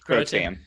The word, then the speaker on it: Croatan: Yeah, Croatan.